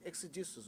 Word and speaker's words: exegesis: He holds a PhD in Quranic, I don't know how to pronounce this, it's tough. See, what is exegesis?